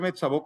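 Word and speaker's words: Metzabok: Y a nosotros nos interesa ver mets o sea, se escribe mensabac, pero se pronuncia mets eh nos interesa ver metsaboc como un punto de peregrinación, porque los materiales arqueológicos así nos lo están indicando.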